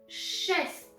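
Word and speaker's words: шест: number six in bulgarian number six in bulgarian is chest chest yes with t at the end number seven number seven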